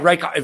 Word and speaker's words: Reichardt: Not even sure if that's how you say it, but that's how we're going to say it. I think it's how it's pronounced. Right? Yeah, Reichardt. Very German.